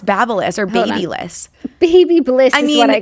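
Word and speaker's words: BaByliss: So it's Babelis.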